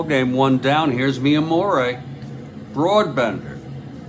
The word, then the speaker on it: Brabender: and now I thought it's broad Bender they pronounce it broad Bender interesting interesting here's F Fior now I'm not